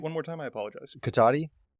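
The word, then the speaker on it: Cotati: of you know where this is um is katani California how do you spell that c-o-t-a-t-i and it is named after um the Native American chief of that area say it one more time I apologize katati it's basically linked with Runner Park which is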